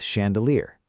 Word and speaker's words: chandelier: French looking. So ch may sound like sh. Where's the strong syllable? Near the end. Chandelier. Good. And the beginning is lighter.